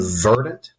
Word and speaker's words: verdant: In verdant, the first syllable is emphasized, so the apostrophe goes after the R.